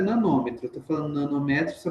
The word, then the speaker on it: nanômetro: A pronúncia correta é nanômetro.